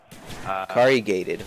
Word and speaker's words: corrugated: Even stronger material, very rare, corrugated cardboard. Corrugated, wow, I've never heard of that. How do you say that? It's corrugated. Corrugated? Yeah, it's not as complicated as you tried to make it.